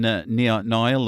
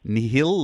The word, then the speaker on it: Nile: In Billy Catanat and Benjamin Nile or Nihil, or how do you say that again? Yeah, it's Nile, mate. Nile, yeah.